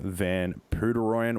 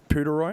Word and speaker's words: Van Poederooyen: thanks CJ and uh nice job on pronouncing my name buddy did I get it right p Roy you got it you got it right man yeah I know honestly